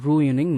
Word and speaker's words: ruining: இது எப்படி இங்கிலீஷில் பேசணும் அப்படின்னா, வை ஆர் யூ ரூயினிங் my life. இந்த RUINING இதை வந்து ரூயினிங் அப்படின்னு தான் உச்சரிக்கணும்.